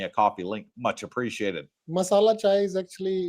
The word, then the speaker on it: masala chai: this, have a coffee on me, buy a masala chai for Mr. Singh. What Thank the you. heck is is it pronounced right?